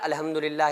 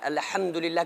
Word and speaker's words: الحمدللہ: کے لیے کافی ہیں۔ تو الحم میں جو ہا ہے اس کو بیچ حلق سے نکالنا ہے، الحمدللہ، کیونکہ یہ تلفظ وہ